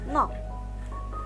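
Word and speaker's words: 넋: satu contohnya adalah kata nok, nok. Nah, di saat dia berhenti hanya dalam huruf konsonan rangkap ini, maka dibacanya hanya huruf gioknya saja.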